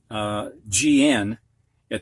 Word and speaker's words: gnat: Previously, the H was silent, but now we've got GN at the beginning of a word, and the G is silent.